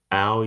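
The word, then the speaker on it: áo dài: in Vietnam is the hour you can see the word our UI here the D is silent our most commonly worn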